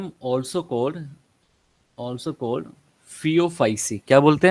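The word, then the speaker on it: Phaeophyceae: Also called फियोफाइसी। क्या बोलते हैं? थियोफाइसी।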